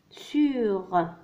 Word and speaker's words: sur: الحرف الأخير هنا هو الحرف R. دونك قلنا في أغلب الأحيان الحرف R عندما يأتي في الأخير ينطق. دونك الكلمة هي سور. عرفنا سابقا الحروف الساكنة التي تنطق عندما تأتي في آخر الكلمة. قلنا الحرف F الحرف R الحرف C والحرف L. دونك هنا لدينا R. دونك il se prononce ينطق sur.